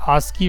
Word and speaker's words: ASCII: इसका प्रोनाउंसिएशन कैसे किया जाता है? आस्की value, ASCII, American standard code for information interchange.